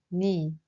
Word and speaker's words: 네: For 너의, we say 네, but in this case, we pronounce it more like 니.